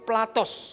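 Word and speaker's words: πλάτος: Jadi itu bacanya lebar itu platos saudara ya.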